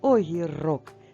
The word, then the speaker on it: огірок: кінці слова груша огірок так наголос в кінці слова огірок саме його ми з